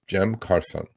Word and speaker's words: Cem Karsan: Um, his name is Jem Carson. Okay, that's the Turkish pronunciation of his name.